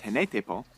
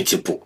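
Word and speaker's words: Hine-nui-te-pō: led to his death, which involved the goddess Henetepo, and ended with Maui... Henenuitepo. Well, Henenuitepo. He butchered that one.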